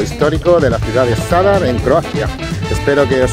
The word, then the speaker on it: Zadar: Se escribe con Z, Zadar, pero he oído que se pronuncia con la S, Zadar.